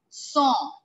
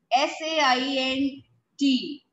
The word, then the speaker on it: Saint: one everybody pay attention eaves it's ease song s-a-i-n-t is not saint in english we call it saint but in french song if song l a